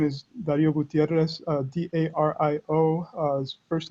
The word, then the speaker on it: Dario: it's all right i i just pronounce it the english way normally um so uh so right my name is dario gutierrez uh d-a-r-i-o uh